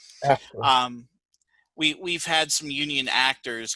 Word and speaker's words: AFTRA: How do you say that? AFTRA. After.